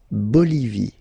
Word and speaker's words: Bolivie: Okay, final not pronounced. La Bolivie.